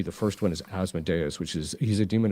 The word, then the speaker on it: Asmodeus: Asmodeus, yeah. Asmodeus is sometimes how you hear it pronounced as well.